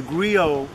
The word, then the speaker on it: griot: Remember, our storytelling tradition goes back to the African griot. Mm-hmm. The griot, and that's spelled G-R-I-O-T, was the...